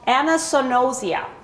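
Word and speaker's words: anosognosia: it to you and it's called Anna sonosia and it's spelled a-n-o-s-o-g-n-o-s-i-a and it means without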